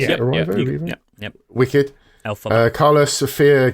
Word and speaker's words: Erivo: Is that how you pronounce it? Erivo?